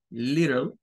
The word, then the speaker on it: little: curioso cuando vamos a buscar Little vean la pronunciación Little los estadounidenses esta t de acá como vean